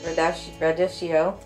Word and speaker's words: radicchio: So romaine lettuce, red and green leaf lettuce, endive, escarole, radicchio. Some people pronounce it radicchio.